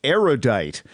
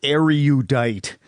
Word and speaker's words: erudite: But seriously, a surprising number of erudite people mispronounce erudite, which has 3 syllables, not 4. Say erudite, not erudite.